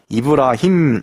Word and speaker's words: 이브라힘: 모든 것을 뒤바꿔 모았습니다 우선 그들은 아브라함이 라는 발음 보다 이브라 힘 이라고 발음을 합니다 아브라함의 대해서 그 이브라